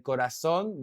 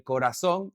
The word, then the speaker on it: corazón: El corazón, that's how I would say it, el corazón, but people from Spain would actually say el corazón.